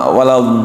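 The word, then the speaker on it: وَلَا الضَّالِّينَ: Jadi dibacanya kan ada waladdallin gitu. Itu harusnya 6 harokat gitu. 6 harokat, tapi banyak orang seringnya mungkin karena napasnya pendek dia ngambilnya 2 gitu, atau 3 gitu.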